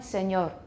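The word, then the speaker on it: señor: god everyone agno and spanish words such as everyone senor senora examples in ital italian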